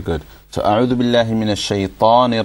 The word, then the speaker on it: شيطان: you look at me, look at how much my lips move when I say shaitan and rajeem, okay? So A'udhu Billahi Minash Shaitanir Rajeem. Very little movement, alright? So try to do the same, okay?